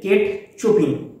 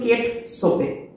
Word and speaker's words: Chopin: কেট সোপে কেট সোপে নামটি দেখে তোমরা হয়তো উচ্চারণ করে বসবে কেট চুপিং বা কেট চপেন ইত্যাদি বলে তো আসল উচ্চারণ কিন্তু কেট সোপে তো গল্পটি শুরু করার পূর্বে ফস্টে আমরা অথার সম্পর্কে জেনে নিব।